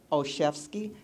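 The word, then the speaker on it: Olszewski: about your last name I have a problem pronouncing it as it's really spelled so I have to spell it the letter o c h e f like a chef and ski like you're going skiing okay I can never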